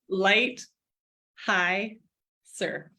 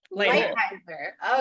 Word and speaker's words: Leitheiser: How do you say it? Light, high, sir. Leitheiser.